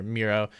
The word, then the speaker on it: Mero: much for joining me it's pronounced miro right yeah like mirror gotcha cool well thank